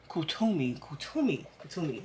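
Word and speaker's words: Kuthumi: Okay, I was pronouncing that wrong. Kutumi.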